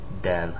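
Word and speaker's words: دال: known for this is D it's a d Dell it looks like a little right angle kind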